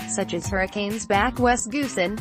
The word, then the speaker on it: Goosen: There are some names certain to trip up unsuspecting television commentators, such as Hurricanes back Wes Goosen, whose surname is pronounced Toisin like the Chinese sauce, and Chiefs assistant coach Tabai Mopson, whose first name is pronounced Tumbai, with a silent M.